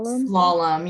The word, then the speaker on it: Slalom: a Communications and content specialist at is it pronounced slalom slalom yeah it's a weird name yeah so a